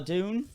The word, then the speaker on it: Duhn: to have mr jeff scroggs here and gabriella dune right right did i say it right that's